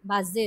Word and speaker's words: Basel: বাজেল, বাজেল। S single বসেছে। Und wo wohnst du? Wants do, O wants do. Wohnst du? হ্যাঁ, আমি কোথায় বসবাস করি? আমি বাজেলে বসবাস করি।